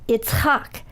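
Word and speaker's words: יצחק: It in Hebrew it's pronounced Yitzchak, and it comes from the verb litzchok, which means to laugh.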